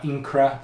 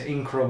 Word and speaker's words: Incra: The kind of brand name that everyone knows them by are Incra, that's I-N-C-R-A. I think I got the pronunciation of that one right at least.